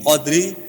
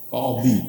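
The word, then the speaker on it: قاضي: Melaporkan kepada qadli hakim qadri bukan qadli, qadhi. Terus ini qadli tapi bacanya qadhi. Itu satu huruf, DL satu huruf, dot.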